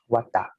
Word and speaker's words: Vata: How do you pronounce it? Vata.